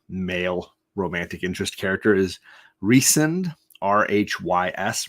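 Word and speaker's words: Rhys: romantic interest character is reesen Rh Ys Reese as in the Welsh pronunciation of Rh Ys uh like Jonathan Reese Davies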